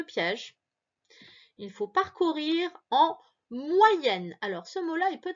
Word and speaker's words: moyenne: O, Y, ça fait wa. Moyenne. Encore une fois, tu as deux N ici, double lettre. Donc, le E va se prononcer est.